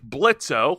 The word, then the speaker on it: Blitzo: According to the article, Hell of a Boss centers on the hellborn imp Blitzo with with a silent Blitz with a silent Oil who runs a small chaotic assassination business.